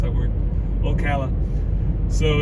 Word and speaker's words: Ocala: Sorry, I hardly ever pronounce that word. Ocala.